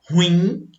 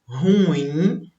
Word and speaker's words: ruim: Observe aqui que algumas pessoas, elas costumam errar essas palavras aqui, olha só. Por quê? Elas pronunciam como se fosse uma paroxítona, mas na verdade elas são oxítonas.